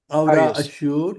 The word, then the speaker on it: Aurassure: Am I pronouncing it correctly? Aurassure.